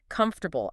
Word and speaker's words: comfortable: it out smoothly oh comfortable is a tough one so many syllables maybe we could like break it down together comfortable I think the trick is to not rush it and really hit that second syllable you know four yeah that helps a lot and it also helps to to think of the or sound as one unit not not two separate sounds yeah come fo R